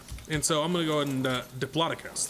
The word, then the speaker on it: Diplodocus: and that's awesome we've got to Diplodocus Diplodocus Diplodocus that's how it's pronounced the plotter kiss that's right okay go